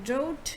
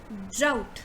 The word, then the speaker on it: drought: by this place so it's not doubt it's drought so you say dr out out so you you say out drought drought right now moving on